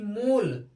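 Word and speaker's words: mole: इसमें ई साइलेंट होता है, ओ का उच्चारण पी ओ एल ई पोल। ऐसे ही एम ओ एल ई मोल, ई यहाँ ई का साउंड नहीं आता है।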